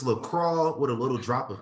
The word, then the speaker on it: LaCroix: It's LaCroix.